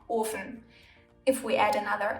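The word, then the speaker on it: Ofen: because there's two F's if however the consonant is single the vowel in front of it is pronounced long like in orphan there's only one F so the O is long orphan if we add another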